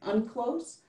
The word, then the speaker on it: UNCLOS: states ratify this treaty which is pronounced i think unclose the answer is an